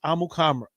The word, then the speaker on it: Amukamara: done long time ago the correct pronunciation for his last name and from his own mouth was Prince amukamara all of that time